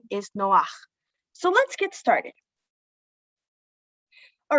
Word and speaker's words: Noach: figure who we know by the name of noah but the correct pronunciation of his name is noah so let's get started all right going a